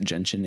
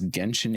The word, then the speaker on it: Genshin: Hard G is from Japanese pronunciation, whereas there's not really English words with gen that have a hard G. True. I wrote it as Genshin Impact, but I have dyslexia.